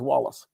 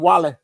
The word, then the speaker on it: Wallace: And anytime there was any money fundraising, Deacon Wallace they never pronounced our name as Wallace. Deacon Wally can do it.